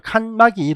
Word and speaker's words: 칸막이: " 칸마이 " 라고 발음 하면 안 돼 요 . 이는 칸막이 를 설치 하거나 다양